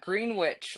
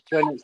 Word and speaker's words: Greenwich: So, Ken, um your your location's super perplexing because you're right on that Green Witch line, aren't you? Yeah, Greenwich is Yeah, Greenwich line. Yeah, Greenwich. Greenwich is the way we pronounce it.